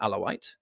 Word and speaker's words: Alawi: called alawi he's an alawite alevi is the Turkish pronunciation alawi is the Arabic pronunciation but it's the same